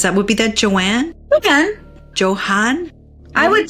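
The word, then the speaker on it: Johann: what be that Joanne Johan I would pronounce it like more like a Johan because Johan it's probably German or something yeah so now we're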